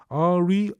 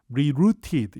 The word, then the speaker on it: rerouted: 그리고 REROUTED는 발음이 rerouted 이렇게도 읽고요. 원어민에 따라선 rerouted 이렇게 읽는 사람도 있어요. 토익에도 그 두 발음이 다 나온다는 거 기억하시면 좋겠습니다.